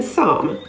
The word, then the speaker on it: psalm: him h-y-m-n condemn c-o-n-d-e-n p is silent if it appears at the beginning of a word before an s as in psalm p-s-a-l-m psychiatrist p-s-y c-h-i-a-t-r-i-s-t